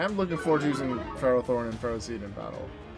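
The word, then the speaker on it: Ferrothorn: eternities Buton guard lookus pharoh Thorn which is the pronunciation of that Pokemon unlike what somebody else says I refuse it's not that one I am looking forward to using Ferro Thorn and Ferro seed in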